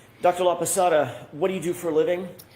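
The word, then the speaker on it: Laposata: That's spelled L A P O S A T A. Dr. La Pasada, what do you do for a living?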